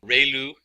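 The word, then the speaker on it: ReLU: We have the ru. It's pronounced like ray the ray of from the sun and lu like a name.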